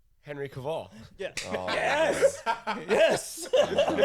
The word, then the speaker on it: Henry Cavill: Henry Cavill.